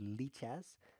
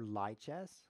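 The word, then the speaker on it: Lichess: go to Li chest that's pronounced leez or liess uhoh Steph kick you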